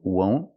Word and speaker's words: won't: The second, won't, use a long O sound, O, won't.